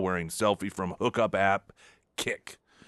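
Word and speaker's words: Kik: Senate candidate Graham Platner seen in shocking topless towel wearing selfie from hookup app Kick. I'm assuming that's how it's pronounced. It's K I K.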